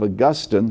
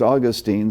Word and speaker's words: Augustine: Centuries earlier, a man by the name of Augustine, sometimes pronounced Augustine, said, O God, demand whatever you will, but supply what you demand.